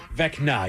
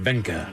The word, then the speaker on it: Vecna: Did I mispronounce it again? Vecna. You went Vena.